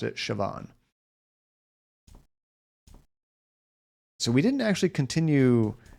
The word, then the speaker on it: Siobhan: Because yeah, I had a coworker with the same name, and she always pronounced it Siobhan.